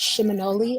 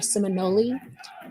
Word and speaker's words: Seminole: or Muskogee word, and it's pronounced Shimonoli or Seminole.